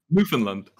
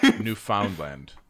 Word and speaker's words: Newfoundland: Well, it's a state of Canada that I can't pronounce either. Newfoundland. What? Newfoundland. Newfoundland is how I'm pretty sure it's supposed to be pronounced.